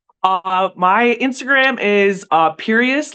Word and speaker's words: Pierias: Uh my Instagram is uh Perious like serious.